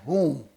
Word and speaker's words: hom: they had a drink it's called whom in in farsi language called h o m or maybe how you want to spell it is pronunciation is whom and that's in in